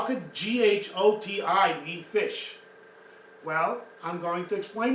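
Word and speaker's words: ghoti: And I'm pretty sure that most people pronounce this as Gotti or Goatee, something like that. Not even close. So, you're going to be shocked when you hear what this word means. Fish.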